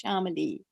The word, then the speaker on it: Shamali: pronounce my thank you remember xiaomi and emily you put together and it's shamali ah thank you for